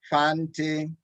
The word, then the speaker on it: Fante: say them along with my dad as we pronounce these it didn't cry eating crown ashanti ashanti akua akua fante fante cawano pado caguano pado sancofa sancofa thank you